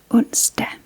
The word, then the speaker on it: Onsdag: But it is spelled T-I-R-S-D-A-G. And next we have Onsdag, which is named after the Nordic god Odin.